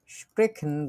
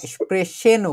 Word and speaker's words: sprechen: কথা বলা একটা শব্দ আছে স্প্রেখেন বা স্প্রেশেনও বলে অনেক জায়গায়, একই কথা। ঠিক আছে, বিভিন্ন জায়গায় এক একটা শব্দ এক একভাবে উচ্চারণ হয়। স্প্রেখেন খ যেটা, ওটা দেখা যায় যে জার্মানির দক্ষিণ দিকে একটু বেশি ব্যবহার করা। স্প্রেখেনও বলা যেতে পারে অথবা স্প্রেশেনও বলা যেতে পারে, দুইটাই সঠিক।